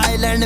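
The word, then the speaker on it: island: plot मेरा जैसे बेटा आइलैंड में साइलेंट पागल सा ये रैपर तभी बीड़ जैसे बेटा आइलैंड में S silent आइलैंड आइलैंड okay okay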